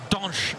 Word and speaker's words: Dante: A legend in the ranks in the form of Brazilian centre-back Dante, or Donch as he's more correctly pronounced.